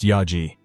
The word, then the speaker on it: Yaji: The woman, Yaji, pronounced Yaji, stated she was Hassan's wife.